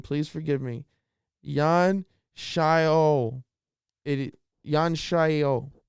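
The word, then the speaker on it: Xiaonan: Jan Shayo. Jan Shayo. Starts with an X. Jan Shayo. I believe I'm pronouncing that correct.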